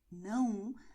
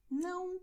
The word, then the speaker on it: não: So pay attention because sim, não, they have nasal sounds.